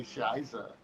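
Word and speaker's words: Scheiße: Just imagine it just depends on your pronunciation there. Yes, in Germany we say Shiza.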